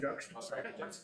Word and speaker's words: juxtaposed: Is it pronounced right? Juxtaposed. You got it.